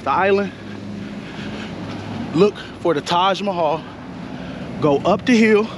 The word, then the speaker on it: Taj Mahal: up this hill right by the how you pronounce that time Mahal Taj Mahal yeah the Taj Mahal restaurant so give me